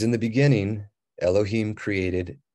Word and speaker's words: Elohim: you have Alf lad W hey y so Elohim is literally how it's pronounced but long story short some of these